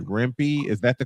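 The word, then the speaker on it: Rempe: Rempy. Is that the correct pronunciation? If not, yeah, Matt Rempy."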